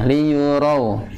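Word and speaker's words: لِيُرَوْا: Liyurau. Dan walaupun dia lembut karena dia itu ujungnya u Pak, liyurau. Tidak o.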